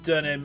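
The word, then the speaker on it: Deuxnim: Is it Donham or is it Dwanem? Because it's Der, isn't it? It would be Durnem. Durnem. Look. At least I'm asking for your expertise. So like that then, like Durnem, right? Is that right? Oh yeah, so same as the Durnem in pseudonym.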